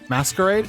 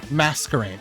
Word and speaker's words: Masquerain: toono Sabai and masarina masquerade is that how you say it I don't really know how you say that name mascarin look it up it's a bug type uh masquerain okay so it has intimidate or